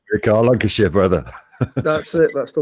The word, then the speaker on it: Lancashire: Yeah, it's Lancashire. Thank you, Rick. Cheers. I'll say it right, Rick, Lancashire, brother.